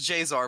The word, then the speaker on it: Jaesar: and I was this pronounced just J it's pronounced J's are but I keep messing it up no it's